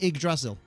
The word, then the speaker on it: Yggdrasil: It's pronounced Ig like iguana. Oh, so it's just Yggdrasil.